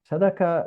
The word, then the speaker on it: Sadaka: Sadaka reflects the way Jews of Iberian origin pronounce the Hebrew word tzedakah, which literally translates as justice or righteousness, but is commonly used to signify simply charity.